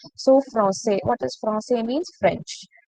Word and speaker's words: français: So here sedil is used, so you will pronounce it with the sound S. So français.